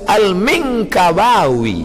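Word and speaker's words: Al-Minangkabawi: Saya masa tengok apalah cara baca ni, alif lam mim nun kaf ba alif waw ya, rupanya lama saya baca Al-Minkabawi, Minangkabau.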